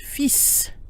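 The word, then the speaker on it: fils: eel civil feel facile note that F ILS which means son is pronounced feasts with a silent L and a pronounced s the singular and plural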